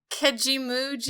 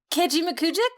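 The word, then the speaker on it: Kejimkujik: You might be from Nova Scotia if you can pronounce. Here it goes. John, I love and hate you at the same time, bro. Kejimujik?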